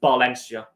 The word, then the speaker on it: Valencia: Uh the V in Spanish is pronounced like a B. So it's pronounced Balencia.